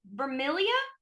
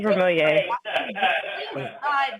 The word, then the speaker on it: Vermilier: I'm not familiar with, Miss Vermilia. Is that how you pronounce that, ma'am? Hi. Yeah, it's Vermilier.